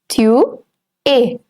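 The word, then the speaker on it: tu es: are it's two a Tu a you are s remains silent over here in e s all right it's q a and not q s two a l a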